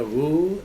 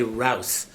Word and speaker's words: Roux: Je m'appelle Monsieur Roux, R-O-U-S. On prononce ça Roux en français, mais ici aux États-Unis, c'est Rouse.